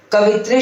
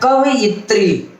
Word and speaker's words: कवयित्री: कवित्री शब्द को बोलिएगा तो आपको सुनाई पड़ेगा कि दोनों पे छोटी की मात्रा है, या एक छोटी बड़ी, लेकिन होता है कवयित्री।